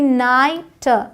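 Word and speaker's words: night: ये आपको बता दिया अब यहां समझिए जब आई जी एच आता है तो भी लॉन्ग आई का साउंड होता है साई यहां जीएच का अलग से साउंड नहीं है कह सकते हैं कि ये साइलेंट है साई हाई एन आई जी एस टी नाइट नाइट एल आई जी एस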